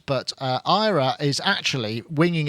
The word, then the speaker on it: AIRA: for the era and she says we don't pronounce it like that anymore I'm like what anymore it's not even out yet she says no we've pronounced it Ira so you pronounced it correctly she says it's not era it's Ira AA sounds like error yeah I suppose it